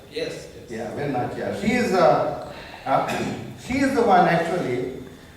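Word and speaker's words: Velu Nachiyar: Veeramangai Velinachiyar. And some of these Tamil pronunciations are very difficult. If I am wrong, please correct me, Mr. Partha. Yeah. Veeramangai Velinachiyar, right? Yes. Yeah, Velinachiyar.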